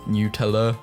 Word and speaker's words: Nutella: on Facebook and spaz Nutella it's actually pronounced new tell the Easter bunny is